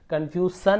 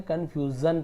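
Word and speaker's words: confusion: उच्चारण होहा कंफ्यूजन कंफ्यूजन इसे सन कन्फ्यूजन नहीं पढ़ेंगे कन्फ्यूजन पढ़ेंगे ज है ना उसी प्रकार से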